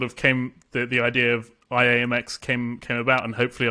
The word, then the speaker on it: IAMX: of philosophy the it's it's pronounced I am X so I am Mr X so today you are